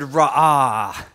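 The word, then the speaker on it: רֹעֶה: of the Old Testament is the word raha because I hear you say raha sounds like a Katy Perry song you're gonna hear me roar ah right it means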